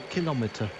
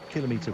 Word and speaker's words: kilometer: measuring device hence myelometer and so kilometer is not a kilometer i hope that explains why we say kilometer which is apparently according to brian benner the correct pronunciation and i like the argument so much i've stuck with it ever since kilometer wrong kilometer right in my room uh